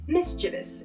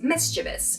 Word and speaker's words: mischievous: The standard version is mischievous, mischievous. So the difference here is that the I in the middle of this word is moved to the end of the word in the non-standard pronunciation.